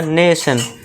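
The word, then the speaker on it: nation: फिर next example है हमारा नेशन। इसमें भी है TION तो इसे भी क्या पढ़ेंगे, नेशन, यानी कि एक राष्ट्र।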